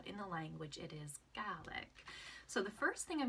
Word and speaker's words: Gàidhlig: Scottish Gaelic but in the language it is garlic so the first thing I'm gonna teach you